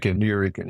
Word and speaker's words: Nuyorican: I'm going to try and pronounce this correctly. Nuyorican? Nuyorican, yeah.